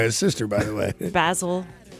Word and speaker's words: Basil: Basil is probably how they would pronounce it. Basil, as in like Basil Rathbone.